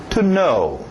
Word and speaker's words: know: inglês, yes e no, essa mesma pronúncia do no. To know. To know. Okay? Escrito estranho, não vai muito pelos seus olhos.